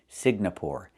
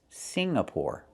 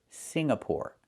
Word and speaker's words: Singapore: I cannot pronounce the country Signapore. It's not Singapore. It's Singapore. The NG makes a sound M in your nose. Sing like when you sing a song together. Singapore, not Signapore, but Singapore.